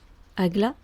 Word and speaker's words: Agla: Ensuite, on va avoir Agla, donc A-G-L-A, donc d'autres symboles, donc 4 lettres hébraïques, qui se prononcent comme il s'écrit et qui renferment hiéroglyphiquement tous les mystères de la Kabbale.